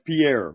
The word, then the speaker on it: Pierre: donated to to uh how do you say the name is it Harry there is capitalism for the capital of South Dakota right oh yeah that's Pierre Pierre South Dakota yeah I called up